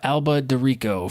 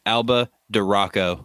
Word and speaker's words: Alba DeRocco: And then number 3 was Angela Alba DeRico from the Austin Facial Hair Club. It's actually pronounced Alba DeRocco. Oh, sorry. It's like the Sriracha, the Rocco.